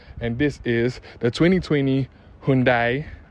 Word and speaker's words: Hyundai: this is the 2020 Hundai or some pronounce it as handy handy Sonata put a